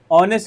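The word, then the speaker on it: honest: ऑनेस्ट begins with a silent H making it's first sound a vowel. जो इसका first sound है वो क्या होता है? वोवेल प्रोनंसिएट होता है।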